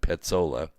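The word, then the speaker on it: Pezzola: held against their will pizzola has and it's spelled p-e-z-z-o-l-a so i'm i'm saying like pizza but petzola has literally been in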